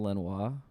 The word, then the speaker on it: Lanois: Daniel Lanois.